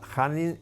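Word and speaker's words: Khanin: blancas un jugador ruso hanin se escribe kh Pero esa kh se pronuncia j hanin y con negras nuestro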